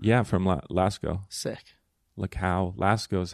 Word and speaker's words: Lascaux: Lascaux is how you say it. I don't know how to pronounce this, but I just said the French ones.